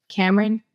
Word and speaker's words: Camryn: Cameron. And spell it out.